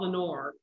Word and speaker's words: Lenoir: this came so easily it's called lenore because i'm from lenoir county and i love the word lenore it looks you know it's spelled l-e-n-o-i-r and so it looks